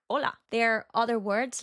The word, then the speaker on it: hola: So we just say it like hola.